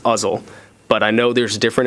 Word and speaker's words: Uzzle: being a shooting range the way I was taught to say it was like you say muzzle it's uzzle but I know there's